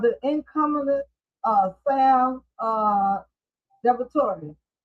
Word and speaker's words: DiVittorio: You have the incumbent uh Sam uh Devator.